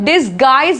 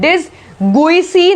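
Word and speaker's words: disguise: फिर देखो यहाँ पर जी यू आई है तो डिसगाइज बोल रहे हैं, डिसगुइसी नहीं बोल रहे हैं, डिसगुइसी, डिसगाइज बोल रहे हैं हम लोग।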